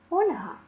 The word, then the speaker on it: фольга: твоїх слів циган начинка фольга дуже легко запам'ятати наголос адже в цьому слові міститься жіноче ім'я Ольга у якому наголоспадає на перший склад тому Ольга купила офольгу